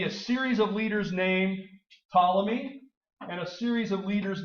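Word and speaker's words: Ptolemy: of Alexander's great generals his name was tmy that's how you say that name tmy silent silent P I guess tmy controls Egypt tmy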